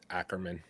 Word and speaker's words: Ackerman: Writer is Spencer Ackerman. Ackerman. That's definitely Ackerman.